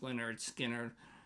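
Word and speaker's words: Lynyrd Skynyrd: 10, and that is Leonard Skard's, pronounced Leonard Skard.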